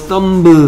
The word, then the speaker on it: thumb: 이 b가 소리가 나지 않습니다. 끝에 오는 thumb 하기 발음하기가 힘들어서 그냥 thumb 이라고 하는 거예요.